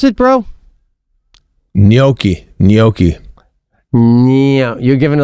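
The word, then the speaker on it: gnocchi: Noi. You're giving it like a little bit of a Y. Can't you just go silent totally on the G?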